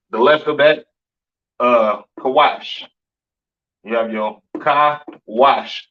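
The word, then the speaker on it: Cush: right and and Somalians these are your kushites you understand uh pronounced kawash in the Hebrew Syrian spelling over here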